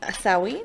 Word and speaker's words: Samhain: I really should have memorized the pronunciation before I came. Samhain. Samhain. Samhain. Samhain. Samhain?